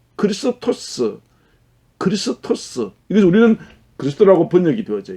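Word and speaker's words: Χριστός: 그런데 이 그리스도라고 하는 이 말은 헬라 말, 그리스 말입니다. 발음 그대로 읽으면 크리스토스.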